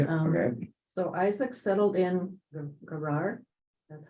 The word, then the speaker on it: Gerar: So Isaac settled in Gerar. That's how you pronounce it.